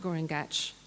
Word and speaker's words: Guringati: On Duraban, the eel being was called Guringati, which would have been pronounced much like Guringach, so perhaps he was the same being as Guringach or a relative.